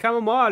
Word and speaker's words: chamomile: Chamomile. It's got E on it, and that changes the pronunciation of the I.